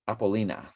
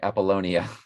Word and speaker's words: Apollonia: anyway michael corleone married her name is apollina i bel i'm sorry apollonia apollonia but it's spelled apollo apollonia and um it's got an it's apollo with an nia at the end of it um and the gematria